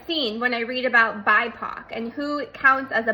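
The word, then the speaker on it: BIPOC: at the definition of bipo b p c and I want to read it to you because I can't remember black indigenous and people of color it's pronounced bipo bipo is used to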